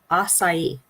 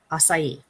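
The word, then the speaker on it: açaí: for myself right uh acai acai the acai berry and I was looking at the word going it looks like a chi is the chi okay yet totally wrong I was totally off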